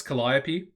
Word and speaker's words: Calliope: said it again i'm i'm really struggling with the pronunciation i've got it down pat now like i know it's calliope but every time i see it i almost want to just use the old pronunciation that i used to use anyway calliope